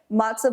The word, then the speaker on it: matzo: Today she's going to teach us her famous homemade matzo ball chicken soup.